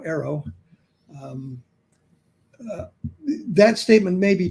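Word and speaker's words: AARO: The other thing is when she makes a statement like that about arrow, that's how we pronounce the acronym now, arrow.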